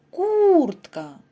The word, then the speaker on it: куртка: який він за порядком у другому слові наголос падає на перший склад прослухайте куртка тепер вимовте третє слово